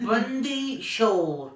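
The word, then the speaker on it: Bandi Chhor: at the booger but actually it's called bandichhor is that right right is that right I'm not saying it right yes yes Bundy sure yes okay absolutely correct now what want you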